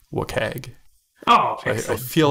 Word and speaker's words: WCAG: So that acronym is pronounced WCAG.